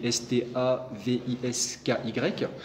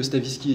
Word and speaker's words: Stavisky: qui s'appelle l'affaire Stavinsky donc Stavinski ça s'écrit sta V i s k y et Stavisky en gros